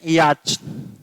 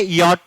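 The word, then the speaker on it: yacht: ऐसे लिख देते हैं याच ए स्पेलिंग गलत होती है ए सही होती है ठीक है हां ये याच नहीं होती ये यट होता है नौका को यट बोलते हैं।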